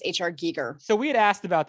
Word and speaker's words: Giger: Geiger, but his name is actually pronounced H.R. Giger.